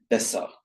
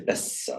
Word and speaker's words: besser: But for example, a word like besser, which is written with a double S, Besser. you wouldn't say besser, it's just besser.